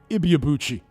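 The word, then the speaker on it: Ibeabuchi: The latest development with Ike Iabuchi or Ike Ibbyuchi. That's the way it's correctly pronounced apparently.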